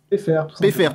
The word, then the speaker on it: Peiffert: Je suis avec Pfeiffer, alors Pfeiffer, comment on le prononce ? PFR, tout simplement.